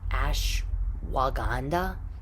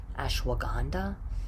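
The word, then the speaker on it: ashwagandha: I don't even know how to say it ashwaganda ashwaganda if you look it up it's like ash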